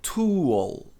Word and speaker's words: tool: Outro clássico, a maioria das pessoas pronuncia to. Mas a pronúncia correta é toal. Tool. E tem que pronunciar esse L no final. Tool. Legal. E não to.